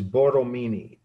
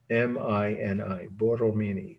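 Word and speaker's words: Borromini: a-g-n-e is the title the architect's name is boromini b-o-r-r-o-m-i-n-i bortomini 1657. so let's start with who was boromini he was an architect not a sculptor or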